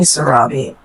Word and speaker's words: Sarabi: we can call you you can call me Sarabi s Sarabi yes how to spell it s a r a b i Sarabi